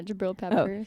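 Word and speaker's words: Jabrill Peppers: Yeah, Jabril Peppers.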